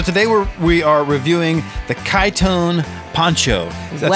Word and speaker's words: Kytone: they are so today we are reviewing the kaitone Poncho that's spelled k-y-t-o-n-e Poncho this is a French product